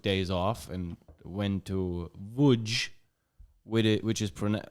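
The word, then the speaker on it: Łódź: off and went to woodge with it which is PR like written l o d z and it's pronounced wood this is why Polish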